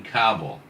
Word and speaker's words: Kabul: That's right, in Kabul. Kabul. Two syllables.